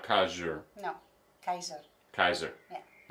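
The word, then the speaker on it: Keijzer: Lita Kaiser, but with a J. They added a J in there. Yeah. Where one and the J is silent. So it's Kaiser, not Kaiser.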